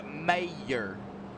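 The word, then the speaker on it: Mayer: all right yeah mayor ma I pronounce alike ma y ER mayor and file teamspeak not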